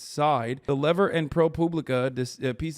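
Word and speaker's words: Seid: People who've dealt with him say it's Side.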